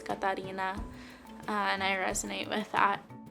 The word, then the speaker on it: Catarina: Here in Willmar, Minnesota, a lot of people say my name as Katarina, or without the accent, but growing up, my name was always Katarina, and I resonate with that.